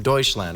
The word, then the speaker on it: Deutschland: Daniel Gable joining us here on the couch, flying all the way from Deutschland, right? That's how you say it in Germany?